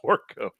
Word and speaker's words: Dorco: or anybody else yeah it's d-o-r-c-o dorco and i believe it's pronounced torco but they have this